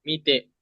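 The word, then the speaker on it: 未定: Ini mi bacanya. Mite.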